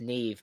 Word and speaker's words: Niamh: it's pronounced Neve, but with the spelling that it has.